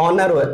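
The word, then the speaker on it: honour: हमारा क्या होता है ऑनर में जो हमारा साउंड है वो ओ से शुरू हो रहा है एच का साउंड साइलेंट होता है तो साइलेंट लेटर की भी मैंने वीडियो बनाई है उन्हें भी जरूर देखें तो एच इसमें साइलेंट है हमारा शब्द कहां से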